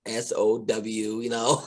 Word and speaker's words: Samhain: going to search it, you say Samhain, people are going to like SOW.